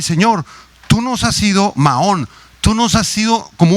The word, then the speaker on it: Maón: Es la palabra hebrea Maón, Maón, con acento en la A, M-A-O-N, Maón.